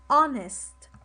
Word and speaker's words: honest: i have the word honest honest the age is silent honest when someone is